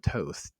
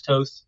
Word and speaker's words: Toth: Toth? Is there anything else that you want to do? And by the way, it is Alan Toth.